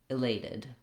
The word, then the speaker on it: elated: So start on the stressed syllable, lay, lated, elated.